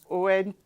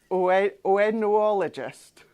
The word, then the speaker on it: oenologist: And C is oentologist. Where did you put that T? Where have you found that T? Oenologist.